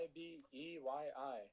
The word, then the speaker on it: Ibeyi: Yeah, it's It's a Spanish version of a Yoruba Bantu word. Never mind. It's Ibeyyi.